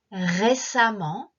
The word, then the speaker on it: récemment: Récemment, saikin. Récemment, ki o tsukete 2番目は e で書くけど発音はa.